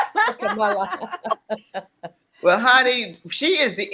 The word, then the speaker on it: Kamala: It's His time, and as her beautiful nieces taught us how to pronounce her name, Kamala.